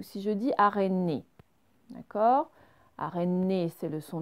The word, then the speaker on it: araignée: Alors que si vous prononcez le son NIE, comme dans araignée, NIE, déjà regardez ma